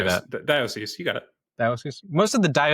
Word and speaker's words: diocese: Diocese, you got it.